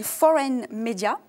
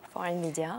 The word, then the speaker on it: 4n Media: nom de votre business c'est foreign media ça se prononce comme ça foreign media oui est-ce que vous